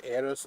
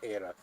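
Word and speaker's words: Aerith: fight you on this it's AIS not ath ath sounds stupid it's AIS how do they pronounce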